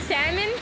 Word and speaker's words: salmon: He's saying salmon? Salmon? Salmon. What am I doing? What am I... I don't even know what I'm doing anymore. Oh, yeah. River mouth. They pronounce the L!